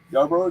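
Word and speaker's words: Yarbrough: versus montage in game one um ryan yarborough yarborough did that pronounce that correctly yeah bro yeah bro um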